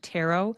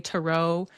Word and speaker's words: tarot: I pronounce the word tarot. Some people will say tarot. There's a few different pronunciations of it, so you may hear it said in different ways, but that's just my preference.